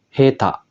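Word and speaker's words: 下手: bawah oke dia cara bacanya juga spesial yaitu heta yang artinya tidak pandai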